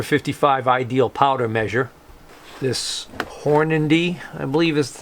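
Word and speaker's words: Hornady: this um number 55 ideal powder measure this horn indy i believe is how you say the name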